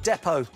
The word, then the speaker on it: depot: What letter is silent in the word depot?